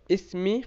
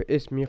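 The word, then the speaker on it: اسم: And this alif in the word ism is not an alif that's pronounced unless you are starting speech from that letter.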